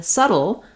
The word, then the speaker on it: subtle: saddle settle and then in subtle the letter B is silent um and again we